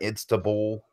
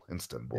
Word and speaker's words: Istanbul: You center it around Istanbul. Am I pronouncing that right? Istanbul. Istanbul.